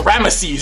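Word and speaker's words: Rameses: We have Moses and Rammeses. You got to say, you got to say all three syllables. You can't say Ramsey's. It's Rammeses. Moses and Ramisees brothers.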